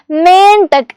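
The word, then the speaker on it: मेंढक: ഫ്രോഗിന് നമ്മൾ പറയുന്ന പേരാണ് മെയിൻ ടെക്ക് എന്ന് പറയുന്നത് എന്താണ് മേൻ ടെക്ക് എന്ന് പറയുന്നത് നമ്മൾ പഠിച്ചു വെച്ചോളൂ കേട്ടോ മേനിന്റെ മുകളിലുള്ള കുത്ത് ഇടാൻ മറന്നുപോകരുത് മെയിൻ ടക്ക് എന്നാണ് ഇത് വായിക്കുന്നത് അല്ലെ ഓക്കേ അടുത്ത ആൾ ആരാണ്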